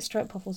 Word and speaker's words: stroopwafel: But you can get like you can get stroopwafels over here now. Stroopwafel, sorry. So I never pronounce it right. Stroopwafels. Stroop. Stroop. Yeah, but again, English, we can't get that noise in the back of our throat.